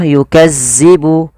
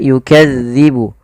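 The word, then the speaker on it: يُكَذِّبُ: lafaluk hati-hati teman-teman dilafal melafalkan huruf dalal dalal ini tidak boleh dibaca atau tidak boleh diganti dengan huruf Zai contoh yukazzibu yukazzibu tidak tapi dia yukadzibu yukadzibu yukadzibu bihal mujrimun Kemudian pada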